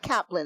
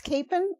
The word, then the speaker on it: Capen: It's not Kaplan it's Capen.